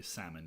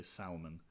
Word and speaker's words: salmon: hammond as in like the way you say salmon you don't say salman and i thought that